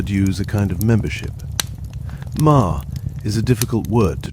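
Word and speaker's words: 間: It is pronounced as one syllable ma. The same sound as the beginning of mother or maple or margaret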